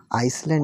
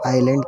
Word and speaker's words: island: ये आइलैंड है, आइसलैंड नहीं, तो हम इसे आइसलैंड नहीं आइलैंड कहेंगे। एस यहाँ पर साइलेंट रहेगा।